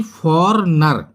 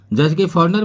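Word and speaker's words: foreigner: कहां साइलेंट होता है यदि एन से पहले प्रयोग हो जी तो ये साइलेंट रहेगा जैसे की फॉरेनर एन से पहले देखिए तो इस जी की आवाज़ नहीं ए रही है फॉरेनर मेंस विदेशी भी बोल देते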